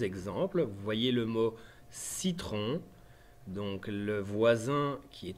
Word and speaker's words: citron: Donc si après notre C, on a un E, un I ou un Y, c'est obligatoirement un C doux et le son se prononce S.